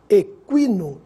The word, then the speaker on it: equino: nas seguintes palavras quilo adquirir química agora tranquilo Equino iniquidade vamos ver a diferença da pronúncia do Gu mudo para o Gu pronunciado